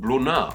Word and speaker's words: brunette: I'm going to say that with a silent T. My Old French isn't too great, I'm sure you can imagine, but T's at the end of French words tend to be silent, so let's go with